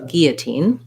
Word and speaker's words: guillotine: the french but gyo we don't um say the l sound so we say first the g sound and an e sound and then this o becomes more of an uh and our and then we have another tense e at the end uh first syllable stress so guillotine guillotine um then